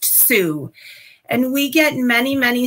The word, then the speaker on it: Sault: So while it looks like it would be pronounced salt, it's actually pronounced Sue.